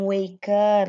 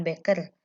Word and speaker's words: weker: alarm clock alarm clock artinya adalah zat alarm ya atau jam weker bukan beker The Wicked Witch itu